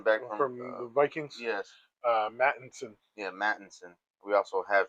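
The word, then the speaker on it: Mattison: yes, Mattinson.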